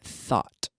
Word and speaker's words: thought: Today I think, yesterday I thought. Think. Thought. With that nice hard T. Thought.